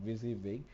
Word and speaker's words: WYSIWYG: That is what you see it what you get, pronounced as a WYSIWYG interface, and the shortcut that save you from typing the repetitive HTML and the CSS.